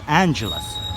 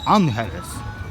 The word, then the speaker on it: Angeles: the city of Angeles that's how its properly pronounced not Angeles its unhealth and I gotta tell